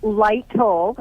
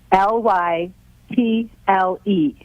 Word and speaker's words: Lytle: where is lighty okay it is light tall and it's about 30 minutes south of san antonio it's it's what is it light what light toe light told spell it l y t l e l y t l e lytle correct okay great well listen